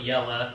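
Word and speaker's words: IELE: spelled like that's but the pronunciation is actually yellow so it's romanian so i didn't know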